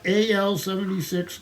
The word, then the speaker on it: AL: Oh yeah, Robot AL-76 goes astray, and I think you're supposed to pronounce the robot and call him Al.